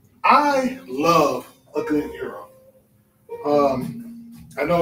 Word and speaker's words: gyro: i love a good hero um i know it's about gyro but it's actually pronounced hero um it comes from